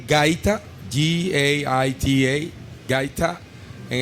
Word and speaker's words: gaita: a traditional instrument, and you will have to pronounce it for me. But okay, it's called gaita, Gaita, gaita, and it's made from the cactus.